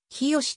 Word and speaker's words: 日吉: については日吉と書いて冷えと読むもの日吉と書いて日吉と読むもの膝